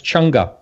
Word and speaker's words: Chang'e: That's Chang'e.